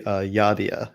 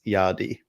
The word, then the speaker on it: Yadea: It's apparently Yadea is the Okay. correct English pronunciation, and apparently in Chinese it's Yadi.